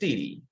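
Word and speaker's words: 地理: perspective of a geographer so geography is pronounced DD and Mandarin before the Western concept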